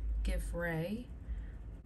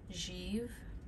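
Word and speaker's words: givré: like to talk about give Ray it's a French term it's I guess more appropriately pronounced jeev and it means frosted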